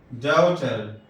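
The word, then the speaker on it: daughter: جیسے devout, devout, ڈاؤٹر، ڈاؤٹر. دیکھیے یہاں جی آیا دونوں میں لیکن تلفظ ڈال سے ہوا تو ڈی کا تلفظ عموماً ڈال سے ہی پڑھتے ہیں. یہاں دیکھیے جی ایچ سائلنٹ ہے.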